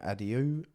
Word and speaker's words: adieu: But before we bid Faerun adieu, in search of stranger shores... Adieu? That's not how you say it, is it? Adios. No, it's A-D-I-E-U. A-D-I-E-U? Yeah. Oh, I don't know what that is. Adieu.